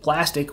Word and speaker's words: Plastiq: so what is plastic plastic with a q just so you know i didn't spell it wrong it is with eq